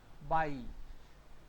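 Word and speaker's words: bei: If you see E-I, it will be I. And A-I will be also I. Again, these two are similar in sound. What is this? Nine. And this one? By. By.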